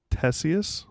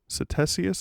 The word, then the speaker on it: Ctesias: Ctesias or Ctesias. It starts with a C, a CT. Okay. Not sure on the pronunciation. I would assume it's a silent C.